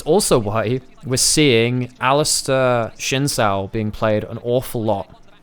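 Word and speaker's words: Xin Zhao: It's also why we're seeing Alistair Shinzao being played an awful lot. Chinchao. It should be technically how it's pronounced.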